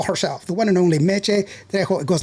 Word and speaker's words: Meché: Is it Mitch or how how do you say Mitch? because you have the accent over the e. It's mech. Yeah, mech.